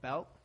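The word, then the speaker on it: Bălți: Then we went up north to this town called Belt. I know, that's not how it's spelled. I called it Balti until they corrected me.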